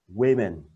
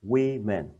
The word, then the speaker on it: women: đây là y Guess Women's đó nó không đọc là Woman mà là woment hai chữ y ngắn được các bạn nha